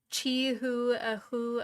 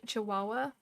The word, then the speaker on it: chihuahua: Rabbits pronounces the dog chi hu chi hu a hu what? Oh, for like instead of chi chihuahua?